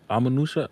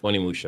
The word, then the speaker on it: Onimusha: Amanusha. How you pronounce that game again? Onimusha.